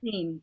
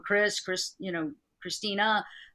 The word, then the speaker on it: Christine: information quickly, and just Christine. It's Christine. Michelle. Christine. You might want to write that down. Okay. It's Christine. Mm-hmm. It seems, and it seemed like when you said her name wrong, Christina, that she got really upset.